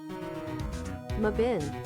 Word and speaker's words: Mebane: Just tell me how it's pronounced. Stop it. Mebane. Mebun? Mabin.